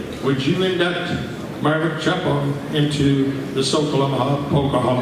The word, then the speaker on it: Capoun: was growing up, the Capoun name was really pronounced Chapon. And when we grew up in Dwight, Nebraska, my dad grew up in a small town of Loma. That was the Czech way to pronounce our name. But as we moved from Dwight to Schuyler, my dad kind of just conformed to saying Capoun.